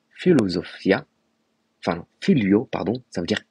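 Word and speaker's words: φιλοσοφία: latin en grec pardon en grec ancien ça se prononce philosophia philio pardon ça veut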